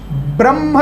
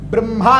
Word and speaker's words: ब्रह्म: शुभ योग शुक्ल योग ब्रह्म योग या फिर ब्रह्मा योग भी कह सकते हैं ब्रह्म योग यह इसका शुद्ध उच्चारण है अंद्र योग वैधृति